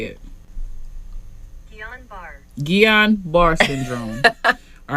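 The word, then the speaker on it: Guillain-Barré: this okay this is how you say it guillain-barre syndrome all right so johnson and johnson like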